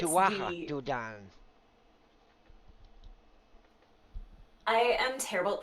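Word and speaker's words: Tuatha Dé Danann: Well, actually, pronounce it Yeah, correctly is it's Tuatha the. De Danann. I am terrible at pronouncing things.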